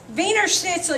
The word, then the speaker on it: Wiener Schnitzel: because he's german okay anytime you have somebody german with a w it's a v wiener schnitzel y'all ever go to the wiener schnitzel no wienerschnitzel okay it's not a it's i know it sounds stupid just bear with it germans w's or v's so my name would